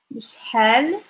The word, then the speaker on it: بشحال: بشحال تديني pronunciation of this بشحال. I forgot like the ha.